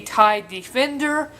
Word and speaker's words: TIE Defender: of the defend oh I've been saying this guy's name wrong for the first part is called a tide defender not a Thai fire basically it's a really